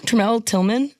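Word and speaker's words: Tramell Tillman: Tremel Tillman?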